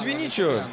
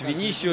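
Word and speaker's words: Vinício: Но я могу сказать, что Луис Виничо, или Луис Винисио, если по-португальски называть его имя, а если уж целиком правильно говорить и полностью, то Луис Винисиус Доминезес, таково имя главного тренера Удинезе.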